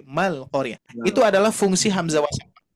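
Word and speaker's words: مع القارعة: Bukan Ma'al-Qari'ah, tapi Mal-Qari'ah.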